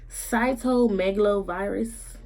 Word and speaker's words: cytomegalovirus: was wrong with chosen was she had CMV cytomegalovirus is how it's pronounced it and pronounced and CMV is basically